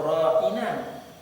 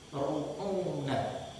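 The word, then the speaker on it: راعنا: Nah, lalu orang-orang Yahudi mencontoh, mengucapkan pula ra'ina. Tetapi ra'ina yang mereka ucapkan tadi tidak sempurna ra'inanya. Seakan-akan mereka tadi mengucapkan bukan ra'ina, tapi ru'una.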